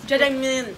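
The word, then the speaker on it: 짜장면: That's how you say it. You don't open your mouth. Just jajangmyeon. Close your mouth and I mean your teeth. Like jajangmyeon.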